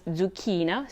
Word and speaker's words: zucchina: example some people pronounce zucchina for zucchini with a s sound which is the correct one according to the proper diction but most people say it with a z sound so who knows when you see a double